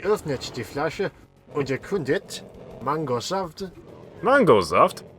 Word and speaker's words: Mangosaft: Und die öffnet die Flasche und erkundet Mangosaft. Mangosaft? Is that not how they pronounce it in Germany? No, there's no E on the end of Saft.